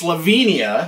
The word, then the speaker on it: Slovenia: I've found out since then is it's actually pronounced Slovenia Slovenia had I been told that I would